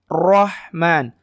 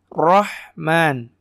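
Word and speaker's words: الرحمن: kasraya Rinnai itu ya Rei itu baru tipis bukan Roy tapi Rey kalau ini tebal Rohman Rohman jadi paham ya kayak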